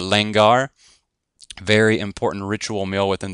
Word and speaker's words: langar: fellowship with one another it's called the langar and it's spelled just how it sounds l-a-n-g-a-r okay the lengar very important ritual meal